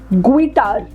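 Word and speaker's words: guitar: इज ए गिटार and here we are going to keep you know the sound of letter you silent it's अ combination of जी यू एज we talk about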